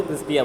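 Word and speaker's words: cristae: हाँ, तो एक होता है तो उसको क्रिस्टा बोलते हैं और प्लूरल फॉर्म को क्रिस्टिया बोलते हैं। ई लगा देते हैं आगे, बस इतना डिफरेंस होता है, गलत नहीं है।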